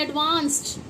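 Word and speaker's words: advanced: हम बोलते हैं लेकिन ना इसका सही प्रोनाउंसिएशन डी जो है इसमें ये निकालता है टा की वॉइस।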